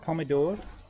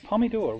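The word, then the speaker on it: պոմիդոր: is and now we have pomodoro come on not to mothers pomidor we were in armenia i have to say it like an armenian oh loli yes i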